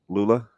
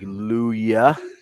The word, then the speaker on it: Lulla: sorts of stuff right do they get the the two L's together with Lula yeah every once in a while somebody will Transit like luya and I'm like not Hispanic no Double L there wow I mean that's